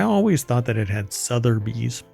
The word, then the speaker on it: Sotheby's: I thought there was an R in there for the longest time. Anyway. Is that a Mandela effect? Yeah. But it's Sotheby's. Sotheby's. You have to say it like that. Sotheby's. So it kind of came across like Southern bees. Bees with like cowboy hat.